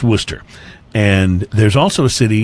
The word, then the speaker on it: Worcester: e ste R so if you live somewhere other than Massachusetts you'd be tempted to call it were Chester yeah and well it's pronounced Worcester and there's also a